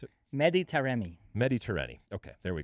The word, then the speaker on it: Mehdi Taremi: Bring on Iran and Remedi. I'm sorry. How'd you pronounce it? Mehdi Taremi.